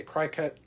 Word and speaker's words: Cricut: machine or cricut machine however you want to say it i like to say cry cut because that's how it's spelled i'm currently working on